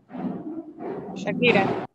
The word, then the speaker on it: Shakira: Shakira. Muy bien. ¿Verdad que es Sha, no es Cha?